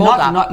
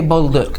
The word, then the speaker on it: Baldock: And Baldock. not like the French way, like you say. I say Bolduc. Yeah, but his name really is Baldock.